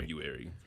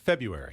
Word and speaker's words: February: I February I just say I don't mess with the R I say February I think the r is silence isn't it February some people sayu February February it's right in between that is a tough